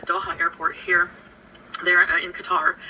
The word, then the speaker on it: Qatar: how you pronounce that is it cutter or Qatar how do you pronounce it I'm going with cutter cuz that's how I've heard it pronounced but I be uh